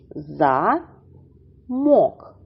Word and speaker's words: замок: слово на склади замок у цім слові два Склади за мок замок наголос падає на другий склад А зараз назвіть що